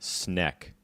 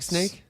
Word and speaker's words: snek: Snack. It's snack. You don't say it like snake?